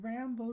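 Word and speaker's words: Raimbaud: me introduce you to Rambo II French pronounce it just the way we do the movie hero also known as Rambo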